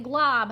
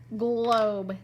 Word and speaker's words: globe: spell it oh oh but that would say glob how do I make it say Glo if you said a magic e you're right globe this is a globe